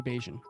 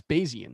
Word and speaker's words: Bayesian: looking at the chat i think you've been mispronouncing crazy basin i just saw how it's spelled i think that's bayesian i think that's like a math joke oh okay well i